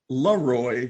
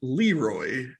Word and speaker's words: LeRoy: sent to john madden it is pronounced la roy not leroy here's a tip maybe don't spell it leroy then all right moving